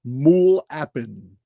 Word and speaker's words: MUL.APIN: tablets from 687 BC called mule appen. I'm going to show you're going to see how this is spelled here in a minute, but it's mul period appen all capital letters.